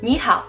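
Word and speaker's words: 你好: is because in Ming when two third tone syllables come together the first one changes to the second tone this makes it easier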